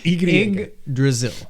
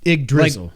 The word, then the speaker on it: Yggdrasil: Yggdrasil. Yggdrasil. Like Brazil, but Drazil. And you just say Yggdrasil. You just say Ig before it. Yggdrasil.